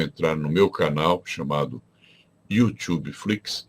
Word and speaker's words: YouTube Flix: E se você tem essa dúvida, você deve entrar no meu canal chamado YouTube Flix, escreve-se com U inicial, pronuncia-se como em inglês, YouTube Flix.